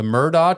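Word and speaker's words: Murdaugh: a Netflix special and Murda was an attorney spell it Mur d a u g there was a net NE Netflix special about this guy Alex murdog yes yes he had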